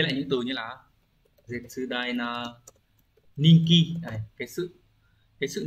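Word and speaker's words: 絶大: Từ số 2 đọc là Zetsudai, cũng là một từ vựng rất là quan trọng của N1, được hỏi một số lần rồi.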